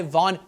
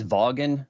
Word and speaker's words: Vaughn: tell them you know it's it's pronounced vagin like Vince Vaughn from Wedding Crashers totally adds up so